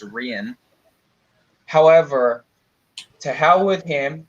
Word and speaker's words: Rian: Also, unlike everyone keeps saying Ryan Johnson, it's not Ryan. It's spelled with an I, so it's Rian.